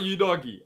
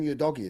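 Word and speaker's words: Udogie: know that for sure it's not you doggy I know should know because he watched SI so he shouldn't know all the all the all the commentators they pronounce him y doggy that's that's what they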